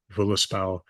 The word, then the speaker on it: Völuspá: Uh, I use modern Icelandic pronunciation here because it's what people are familiar with, Völuspá and Hávamál.